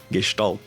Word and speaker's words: Gestalt: Gestalt. I guess the most important part is like the SH sound.